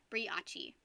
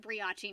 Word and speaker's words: brioche: feel sorry for me briachi i'm going to pronounce it briache now thank you rose